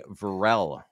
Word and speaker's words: Varel: I've been saying Varel forever, but it's Varel. That's correct.